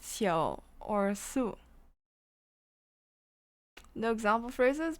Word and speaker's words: 宿: 日月盈仄，辰宿列张 or 宿, but it is also pronounced su nowadays. Which I made an error at the beginning. It's pronounced xiao or su.